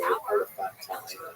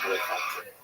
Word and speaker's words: Elephantine: Now, I always pronounce it, by the way, Elephantine. So look carefully. I think it's supposed to be pronounced Elephantine. Maybe someone in the comments will correct me if I get that.